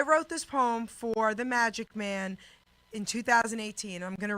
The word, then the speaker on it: Majik: the Magic Man and my name magic it sounds like Magic Mike most people know but it's actually spelled with a J instead of a G but phonetically it sounds the same how you doing Jerry